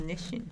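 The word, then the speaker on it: Nissin: it's it's called n in Japanese it's Nish Nish they should have put the H in there maybe uh and so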